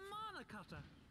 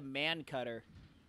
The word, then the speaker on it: mana cutter: We call it a mana cutter. He's calling it the man cutter. Mana cutter. There's a man in mana.